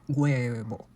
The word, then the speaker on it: huevo: In words like huevo, hueco, or hueso, where U is followed by another vowel in a syllable, the sound doesn't come from a plain U. Instead, it begins with a very soft G, kind of like saying huevo, but very smooth.